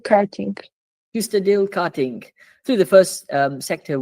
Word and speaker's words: Kyustendil: We're starting off a flying lap over here at, how do you pronounce it again, this track? Kyustendil Karting. Kyustendil Karting.